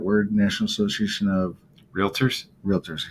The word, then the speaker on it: Realtors: National Association of Realtors Realtors he says right that's good everybody throws an A in there really really really